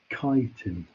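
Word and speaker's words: Chaitin: it's not normally spot with the eye and pronounce chitin usually good i have to fix that argentinian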